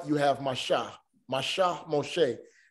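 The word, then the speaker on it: משה: are doing great we have moses here moshi moshe now this one is going to be a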